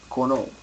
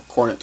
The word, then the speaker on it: Cornet: Philippe Corneau. Or Cornet. Philip Cornet, depending on how you want to pronounce it.